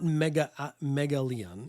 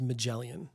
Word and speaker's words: Magellan: I think I'm saying it right. That it's not Megalian, it's Magellan, I think.